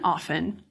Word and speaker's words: often: In the Renaissance, in words like soften and often, the T was lost, but it's retained in the spelling. What's happened recently is that a lot of speakers, because the spelling of often has a T in it, are putting the T back in.